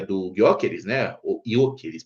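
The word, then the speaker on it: Gyökeres: Yok elis parece que ele não não se pronuncia o G, que é atacante agora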